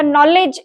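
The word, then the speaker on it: knowledge: ठीक है, जैसे मान लीजिएगा नॉलेज एक शब्द दिया गया है और नॉलेज का स्पेलिंग KNOWLEDG है, लेकिन उच्चारण करते समय जबकि उसकी शुरुआत के से होती है, लेकिन यहाँ पे जो है वो आते आते हम लोग इसकी शुरुआत न से करते हैं, जबकि इसकी शुरुआत क का कहीं पर भी उच्चारण देखने को नहीं मिलता।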